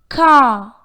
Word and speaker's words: car: When the letter R comes at the end of a word, its R sound is not pronounced in British English. Examples: better, B-E-T-T-E-R, better, but not better or better. Car, C-A-R, is pronounced car